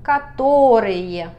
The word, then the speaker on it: которые: Catorrille. Catorrille. Cuatro sílabas.